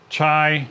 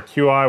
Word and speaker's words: Qi: the pixel stand is a chai or a Qi whatever you want to however you want to pronounce it wireless charger for the